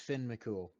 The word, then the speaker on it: Finn McCool: more you're not coming through but yes it's Finn McCool yep that's I thought when I was looking